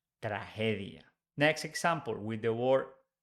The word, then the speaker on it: tragedia: with G in Spanish when it's followed by e g is pronounced like H in English so we don't say tragedia we say tragedia tragedia next example with the